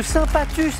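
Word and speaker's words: Saint-Pathus: Voici Michel de Saint-Patus avec un S qui se prononce.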